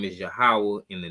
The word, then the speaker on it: Yahweh: the Most High and the pronunciation being Yahweh.